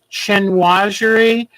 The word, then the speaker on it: chinoiserie: But I don't know how to say this word right, but it's chinoiserie.